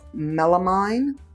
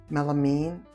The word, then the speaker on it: melamine: The palm tree stuff that we saw earlier was melamine. Did I say it wrong just now again? Melamine? No, melamine. Ah.